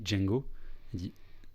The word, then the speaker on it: Django: t'appelles Jamie Fox dit Django tu sais les plaies donc Jimmy Fox EPEL Django donc Djang j'ai mis Fox précise le D est silencieux on prononce pas les et la franconero